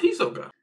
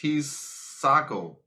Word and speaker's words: Hisako: I thought it was Hisoka. I'm saying, you right, but I think it's like one syllable that's different. Aisoka, something like that. But hold on, let me finish. It's Hisako. Hisako?